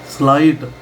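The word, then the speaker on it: slight: हिंदी का स्लाइट स्लाइट मतलब वो एस और एल इकट्ठा बोला जा रहा है।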